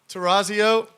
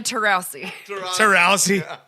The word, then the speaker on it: Taurasi: this is so easy terrazzio you're right but it's not how you say it diana taurasi oh it goes with